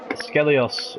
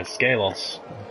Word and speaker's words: Skelos: Skellios, or Skelos, I've been mispronouncing his name even though I said I would get it right again. I am disgusted with myself for that. Yeah, Skelos.